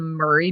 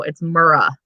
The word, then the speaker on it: Murrah: murrah building um and for anyone who thinks that i'm pronouncing it wrong it is actually spelt m-u-r-r-a-h murrah what other way would it be pronounced so i i i saw some people on uh on youtube pronouncing it the murray building and i'm like no it's murrah yeah